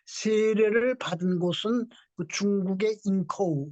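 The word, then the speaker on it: 营口: 뭐 이응찬 등 세례를 받은 곳은 중국의 인커우, 요즘은 뭐 중국 인명 지명 말할 때 중국 발음으로 이렇게 해야죠. 영군데 요즘은 인커우라고 나옵니다.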